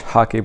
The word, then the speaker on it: hake: For today's video demonstration, I'm going to be using mostly a 2-inch Hake brush. It's spelled H-A-K-E. It sounds like the sport hockey.